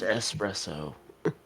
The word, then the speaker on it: espresso: It's pronounced espresso.